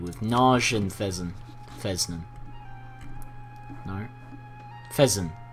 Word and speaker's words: Fezzan: Fezzan. I said it right the first time.